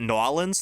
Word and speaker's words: New Orleans: My 8th grade English teacher called it Nolans. That's how they say it down there. That's like not a bit. That's how the accent down there. Cause it's like a very weird like mesh of different accents down there to make like that dialect. They call it Nolans. Nola is how you like shorten it, but if you're there, you call it you pronounce it Nolans.